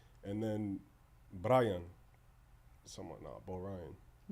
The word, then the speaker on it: B0ryan: Bo Ryan.